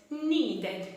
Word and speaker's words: needed: Need, needed, needed. Teacher, mas enquanto algumas pessoas pronunciam needed, como se o D fosse um R.